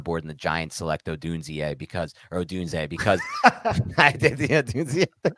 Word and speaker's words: Odunze: It is Odunze.